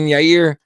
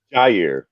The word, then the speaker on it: Jair: Francis Ngannou taking on Yair. Yair. I keep fucking that up. Or Jair. Anyone want to say that? Jair. I think okay. I think you pronounced the J.